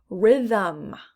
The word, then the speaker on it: rhythm: it's a silent w rhythm rhythm again silent h these look very similar